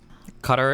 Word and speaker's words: Qatar: going to call it cutar okay get mad stay mad we're not doing that real pronunciation cutter is unironically closest to the yeah if you just if